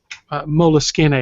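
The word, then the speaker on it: Moleskine: Evernote uh the Evernote mool skin mool skin is still going to uh make these available um Molin and I realize it's the correct way to pronounce that but I just feel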